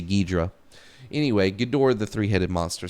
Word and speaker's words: Ghidorah: Do you say Ghidra or do you say Ghidorah? It's spelled Ghidorah, so I'm going to say Ghidorah. When I was a kid, I used to say Ghidra.